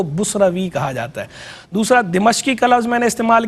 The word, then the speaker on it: دمشق: ڈیمسکس کہتے ہیں، اور اس کا جو درست ضبط ہے، درست تلفظ ہے، وہ دو طرح ہے، ایک دمشق اور ایک دمشق، یعنی دال کے نیچے زیر ہے، میم کے نیچے زیر بھی پڑی جاتی ہے اور میم پہ زبر بھی پڑی جاتی ہے۔ میم